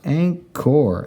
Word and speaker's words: anchor: For number 4, we find on a ship is an anchor, A-N, and then our CH, k, and our O-R, anchor, anchor.